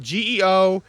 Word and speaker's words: geosmin: right um if you don't know g osmond is spelled g-e-o-s-m-i-n it's actually like when when people ask you